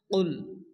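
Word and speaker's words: قُلْ: প্রথমত কফ লাম পেশ কুল দেওয়া আছে অনেকে আছে কাবলাম পেশ কুল বলে কাব লাম পেশ কুল উচ্চারণ করা যাবে না যদি আমরা কাবলাম পেশ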